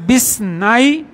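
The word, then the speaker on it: بِاثْنَيْ: এই কলমটি বিস নাই দেখেন বি ইসনাই না কিন্তু উচ্চারণ মিলাবে বিসনাই 18 রিয়ালান এই কলমটির দাম 12 রিয়াল।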